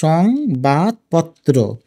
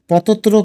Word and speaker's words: সংবাদপত্র: আর কিভাবে এটার হসন্ত দিতে হবে, সং, ও যেহেতু ব্যঞ্জনবর্ণ এবং এটার উচ্চারণটা কম হয়েছে কারণ এখানে হসন্ত দিব। এটা বলছি বাদ নাকি বাদ, বাদ এখানে হসন্ত। এবং পত্র, পতত্র কিন্তু না, এ কারণে পত্র এখানে হসন্ত দিতে হবে। তো এটাই মূলত আমরা এভাবে উচ্চারণ করি, সংবাদ পত্র।